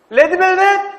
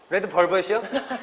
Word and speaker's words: Red Velvet: From Wendy, we are learning the pronunciation of V. Now, I did a video on this recently, and this clip just shows how important V is and how English learners can sometimes struggle. Wendy pronounces it so naturally, she doesn't even think about it. But the top teeth touch the bottom lip and the air is able to move out.